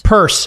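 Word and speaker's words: Peirce: pronounce the word pierce purse first person no it's spelled pierce but a hester purse is worth following on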